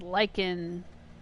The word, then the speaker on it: lichen: it lichen or lichen liken the internet says it's like in that's the american pronunciation